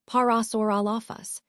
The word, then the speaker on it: Parasaurolophus: Now, the species we're focusing on is Parasaurolophus, pronounced Parasaurolophus.